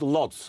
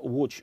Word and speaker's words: Łódź: Yeah, sometimes in English it's sometimes called Lodz. Well, no, it's only because people can't work out that the L is pronounced more like a W.